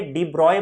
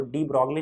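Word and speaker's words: de Broglie: अच्छा, ये डी ब्रॉय बोलता है एक्चुअली, साइज जो नाम है ना आपका, वो डी ब्रॉगली नहीं है, डी ब्रॉय होता है।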